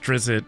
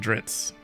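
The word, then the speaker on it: Drizzt: this series The Legend of I'm sure it's pronounced drizzit but I just like saying dritz so these this is the first three books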